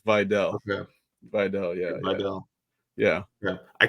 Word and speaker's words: Vidal: I don't want to mispronounce it. Matt Money Smith says it's Vidal.